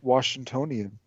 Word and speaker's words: Washingtonian: You might say Oregonian, but no, it's Washingtonian.